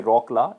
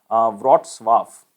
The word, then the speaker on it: Wrocław: So it is not pronounced as you can say Wrocław. It is basically pronounced as Wrocław.